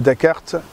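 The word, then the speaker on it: Dak'Art: qui qui est le dakart 2016 je dis dakart parce que c'est un jeu de mot enfin c'est comme ça que ça s'écrit DC apostrophe à RT et donc dakart 2016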